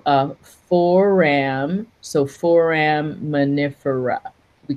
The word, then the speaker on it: foraminifera: So foraminifera.